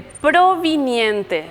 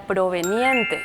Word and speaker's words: proveniente: es cotidianeidad Está correcto la siguiente proviniente le suena bien provenir lo correcto sería proveniente Entonces subrayamos porque tiene